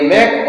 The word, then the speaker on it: make: से बन गया क, और ई है वो साइलेंट है, इसलिए इसको पढ़ेंगे मैक। और एम ए के ई, मैक मीन्स बनाओ या बनाना।